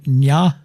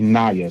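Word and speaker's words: Ny'a: And I had to say her name, Nya. It's actually Naya. So it's N-Y apostrophe.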